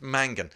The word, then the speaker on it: Mangan: Mangan, hard N, hard G.